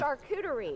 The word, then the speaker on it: charcuterie: say this come on charcuterie oh so I was saying it wrong there's no r no that second R there's no second R my apologies and you